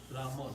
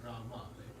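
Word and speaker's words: राम: And Rama is Rama, not Rama.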